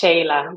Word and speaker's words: Sheila: a special guest um Sheila Aries am I saying that right the last name right did I say that right actually my first name is pronounced Shayla because it's Spanish but yeah so Shayla